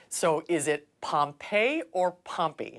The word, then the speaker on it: Pompey: So is it Pompey or Pompey?